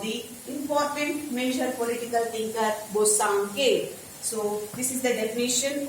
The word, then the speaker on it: Bosanquet: So according to an important political thinker, Bosanquet, said Bosanquet. This is the definition of Bosanquet about right. Here T is silent.